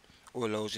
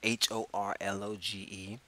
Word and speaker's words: horloge: Horloge is spelled Horloge. Une horloge, a clock. Notice that the initial H in horloge is usually silent in French.